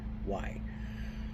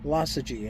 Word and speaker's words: Lossigy: I always want to put a G in there, and it's not there. It's Lossigy. Lossigy, and I hope I'm pronouncing that properly.